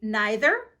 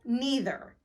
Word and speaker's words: neither: Neither is a word that can be pronounced in 2 ways. You might say neither or neither.